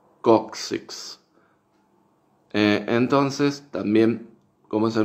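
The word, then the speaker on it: coccyx: en inglés médico sí que se pronuncia cóccix kuksiks o que terminan con x es distinto como decimos nosotros en español nosotros en español decimos kocsis ellos en inglés dicen kuksiks con x al final kuksiks kuksiks entonces también como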